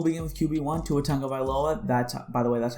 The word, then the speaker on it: Tua Tagovailoa: player so we'll begin with qb one two otango by lola that's by the way that's how you pronounce his name uh 78 i think he